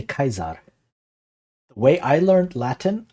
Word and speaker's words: Caesar: do you pronounce Caesar my Latin teacher always say Cesar but reading it I what kesar so I would say kaizar the way I learned